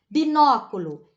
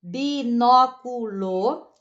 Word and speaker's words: Binóculo: Binóculo. Binóculo. Ó, tem 4 sílabas e a antepenúltima está acentuada.